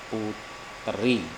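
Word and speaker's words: Poetri: Ejaan lama itu OE dibaca U atau putri.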